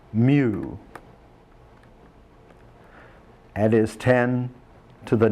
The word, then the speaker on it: mu: is given a Greek letter prefix this is pronounced mu it is 10 to the negative 6 times